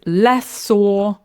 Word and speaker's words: lessor: So, the answer is lessor. A tip is to stress the first syllable.